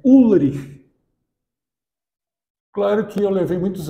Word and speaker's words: Ulrich: o nosso amigo, é U-L-R-I-C-H. O CH no alemão tradicional, ele tem som de R, aquele R mais gutural que se diz, né? Ulrich, fica aquela coisa rasgada e difícil de pronunciar.